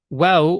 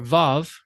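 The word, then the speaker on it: ו: Now, wow or vav can be pronounced two different ways depending on whose pronunciation you're going to follow. The modern Israeli pronunciation would go the, the, they, the, vo, vu, and the historical or the comparative Semitic pronunciation would be wa, wa, w, we, we, wo, woo.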